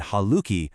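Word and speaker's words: حالكِ: You use haluk when speaking to a male and haluki when speaking to a female. It's a small change in sound, but believe me, it's a very important one.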